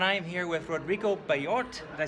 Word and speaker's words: Bellott: I am here with Rodrigo Bellott. Did I pronounce that right?